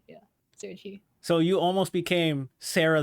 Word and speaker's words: Serachi: The chi just I needed a syllable that sounded cute and flowed well. And, I just need a nice sounding, elegant sounding syllable. And I was like, yeah. So you. I came up with like every possible like 3 to 4 word combination. I was like, chi sounds good.